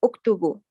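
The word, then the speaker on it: اكتبوا: And the end of alif, we doesn't pronounce alif, just say uktubu.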